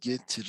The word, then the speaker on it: Getir: It's just two syllables, Getir, and the CEO was saying, we will teach the world this word, Getir.